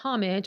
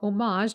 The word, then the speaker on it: homage: On the website, the white collection, which this is a part of, is the homage or homage, depending on how you like to pronounce that, to the woman as an object of the perfumer's admiration.